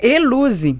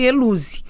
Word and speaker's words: Helouse: Então, é Eluze, né? Escreve Elose com H e pronuncia-se Eluze.